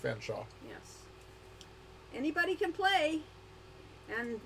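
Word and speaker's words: Featherstonehaugh: Featherstone Hall, which is actually, Lori was informed by someone who's pronounced Fanshawe.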